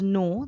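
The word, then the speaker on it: know: held number 19 is no that is k-n-o-w it becomes new that is k-n-e-w remember in both no and new k is silent number 20 is lay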